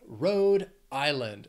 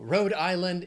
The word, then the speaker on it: Rhode Island: say then we have Rhode Island three syllables stresses on that will the first syllable of the second word Island Road Island and no rad Island it is not an island it's just called Rhode Island then we have South